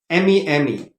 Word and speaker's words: meme: of a cartoon and making jokes of things m-e-m-e okay it is meme do you remember that